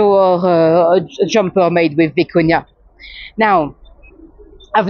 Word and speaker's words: vicuña: Or bicuña, as they might say here, because the V's over here are often pronounced as a B.